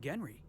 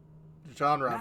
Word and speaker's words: genre: It's a rule of the genry. Genre, but yes.